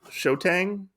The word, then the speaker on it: Xiaotang: I like it that we find our name is Shotang. Like it's spelled with Yeah. like an X. So Xiaotang. I don't remember exactly what her name is.